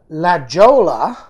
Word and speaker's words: La Jolla: Of course, but if so, La Jolla, pronounced La Jolla.